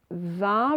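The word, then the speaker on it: vingt: Alors, vous avez réussi à lire le premier, donc 20. Le G et le T ne se prononcent pas, donc ça fait 20.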